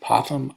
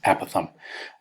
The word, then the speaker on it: apothem: pronounced two different ways I've heard it pronounced apothem and I've also heard it pronounced a Pathan it doesn't matter to me which way you pronounce it as long as we use it correctly we also have the